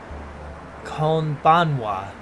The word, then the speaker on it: こんばんは: You may have noticed something interesting about the spelling pronunciation of konnichiwa. And konbanwa. The final characters are the ha principle. More of that in a later lesson, rather than the wa, which you are actually hearing.